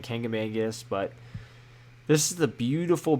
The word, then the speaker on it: Kancamagus: the Kancamagus Highway and now I know everybody has their own way of pronouncing that I've always grown up saying kangamangus but this is the